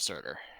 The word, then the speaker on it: Surtur: Wasn't it daughter of, Daughter of Surtur. yeah. I was like, Serta, but that's not right.